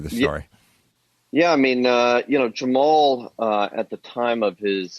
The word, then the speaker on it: Jamal: In the documentary, they pronounce it Jamal differently. Jamal Khashoggi.